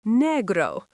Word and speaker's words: negro: Black is negro, pronounced negro.